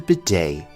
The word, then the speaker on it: bidet: European countries is the bidet. The T here is silent. This is a French word in origin, so it is pronounced a little bit differently than you might expect.